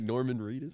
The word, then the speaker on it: Norman Reedus: Norman Reedus? Yes. Yeah. Okay, good. I thought I got his name wrong for a second.